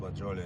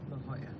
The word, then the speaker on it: La Jolla: It's a corner of La Jolie and 6th. It's pronounced La Jolla.